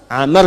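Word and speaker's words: عمرو: yang baca namanya siapa Amr Bin Faid bismillah ah ini Amr ah kalau dibaca begini Amr namanya kalau wwya hilang bacanya Umar ingat ya ini siapa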